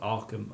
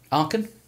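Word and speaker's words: Aachen: There's a when I was in um uh Germany, I went to a place called Arkham. I can't pronounce it properly. Arkham.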